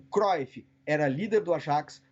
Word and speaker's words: Ajax: O Tottenham fez isso com o judaísmo e, sobretudo, quem fez isso foi o time do Ajax, né, que seria a pronúncia correta, mas a gente aqui no Brasil fala Ajax, que é um grande